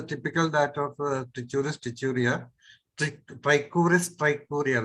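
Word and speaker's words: Trichuris trichiura: Trichuris trichuria, that is the way it should be pronounced.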